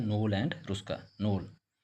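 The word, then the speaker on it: Knoll: नोल के एन O double नोल के silent होता है नोल एंड रुस्का।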